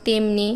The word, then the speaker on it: তেমন: ঠিকই থাকবে যেমন চেতনা তেমনি এই শব্দটি দেখতে পাচ্ছ যে এ উচ্চারিত হচ্ছে কিন্তু যেখানে এ উচ্চারিত হচ্ছে যেমন কেন আর তেমন এখানে কিন্তু জ ফলা আকার দিয়ে লিখতে হবে অর্থাৎ যেহেতু আমরা লিখছি